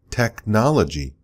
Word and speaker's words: technology: But then we talk about architect, another CH, but it pronounces like a K. Or technology, or tech. So sometimes the CH is ch, and sometimes it's k.